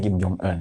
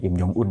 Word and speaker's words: Kim Jong Un: Presiden korut itu loh, Kim Jong Un, orang sana bacanya Kim Jong Un ya, sini Kim Jong Un enggak apa-apa.